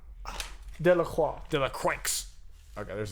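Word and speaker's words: Delacroix: do this is Eugene De La crotch De La Croix de la cranks okay there's the accent I'm sure it's freaking the x is silent so good Lacroix uh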